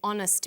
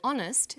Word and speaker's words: honest: happy man but an honest man the h is not pronounced so honest sounds like it starts with a vowel and where the value